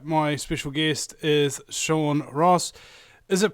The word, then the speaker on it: Hross: special guest is Sean Ross is it pronounced Ross or or Ross what it yeah well you don't pronounce the h actually is an old Nordic